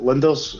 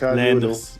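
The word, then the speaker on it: Lijnders: Is it Linders? How do you say that? Lenders. Yeah. Dutch. No, you could say Lenders. Lenders. Pep Lenders.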